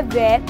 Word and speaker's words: where: ऐसे ही कुछ और वर्ड्स है वेयर, तो यहाँ पर भी WHERE को बच्चों हम लोग क्या बोलते हैं? WERE। ठीक है, मतलब ये स्पेलिंग गलत है, स्पेलिंग सही WHER ही है। तो आप लोगों को कंफ्यूज नहीं होना है, बस बोलते समय हमारा जो H है वो साइलेंट हो जाता है।